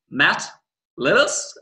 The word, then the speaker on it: Matt Lillis: Today we have from New Zealand, Matt Lillis.